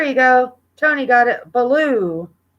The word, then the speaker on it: Baloo: Baloo. I know that blue will make it is pronounced like that, but yeah, it's Baloo.